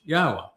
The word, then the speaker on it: Yahweh: able to prove emphatically that Yahweh's name is pronounced Yahwa and the initial proof was actually quite easy but we didn't end it there.